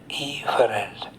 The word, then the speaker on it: efferent: Adference, afference. Exference, efference. But you have to be very careful because the difference is only one vowel. You should be clear in pronunciation. Afferent, efferent. The sensations can come either